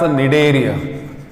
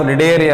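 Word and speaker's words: Cnidaria: That is why the phylum is also called as Nidaria. This phylum is also called as Nidaria anta kariತೀವಿ. C is silent here. Nidaria anta ಹೆಸರು ಹೆಂಗೆ ಬಂದಿದೆ?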